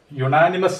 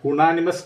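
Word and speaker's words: unanimous: ഇവിടെ നമ്മൾ യുണാനിമസ് എന്നാണ് പറയുന്നത്. യുണാനിമസ് എന്നാണ് നമ്മൾ പറയുന്നത്, അല്ലാതെ ഉണാനിമസ് എന്നല്ല നമ്മൾ പറയുന്നത്.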